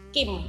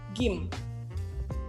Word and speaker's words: Kim: Ini jadi dibaca Kim. Kalau di Indonesia Kim, tapi kalau di Korea bacanya adalah Gim.